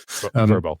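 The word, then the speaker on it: Vrbo: it yeah right yeah I think they say it as verbo it just sounds dumb but I guess I should say it since that's what they say in their commercials verbo so there are other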